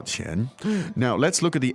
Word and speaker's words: 钱: 多少钱? Now, let's look at the elements. There's 3 elements there. So the word for money is 钱钱, 钱钱. second tone Yes, keep saying it over and over.